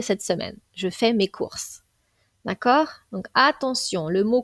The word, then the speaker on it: cours: mot court apprentissage pensez bien que le s est muet donc là on avons parlé de cours euh cours apprentissage donc